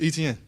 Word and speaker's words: Etienne: So I'm like, man, it's Etienne. Like how you see it is how you say it.